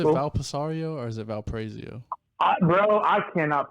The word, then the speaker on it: Valparaiso: How are we gonna know that phonetically is correct? If anybody knows, Snoop knows. That's Snoop. He's right there. Valparaiso. Okay. Or I think a lot of people just say Valpo.